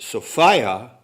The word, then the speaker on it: Sophia: phonemes in the word sophia which is the correct pronunciation along gnostic lines resonate and rhyme with the word desire desire is an element